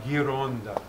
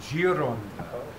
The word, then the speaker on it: gironda: hurdy gurdy is la gironda which doesn't mean anything except la gironda but if you were to pronounce it incorrectly instead of ghi just gi it would be jiron and because when you